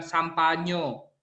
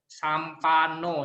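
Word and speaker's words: sampanno: Bukan Sampanyo, Sampano ya.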